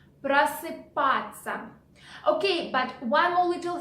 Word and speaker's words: просыпаться: Okay, and the first phrase for today is просыпаться, which in English is get up. Okay, let's repeat the word again. Просыпаться. Просыпаться. Okay, but one more little thing. Ся we pronounce in spoken language like ца.